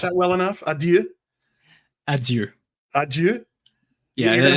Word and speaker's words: adieu: You're gonna have to teach me how to pronounce that diphthong at the end there at some point. Yeah, it's a sound we don't have in English.